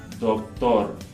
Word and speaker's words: doctor: So in Spanish, the D and the T in this word are both going to be dental against the top two teeth. Doctor, doctor. But in English, we're going to pronounce it by placing the tongue in a different place. So, doctor.